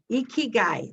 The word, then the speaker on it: ikigai: of the term ikigai let me see if i got this right ikigai ikigai that's how you say it i had to look